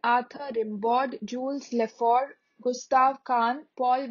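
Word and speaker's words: Kahn: then jules leforg jules leforg l-a-f-o-r-g-u-e then gustav khan gustav khan g-u-s-t-a-b-e k-a-h-n gustav khan and paul valerie paul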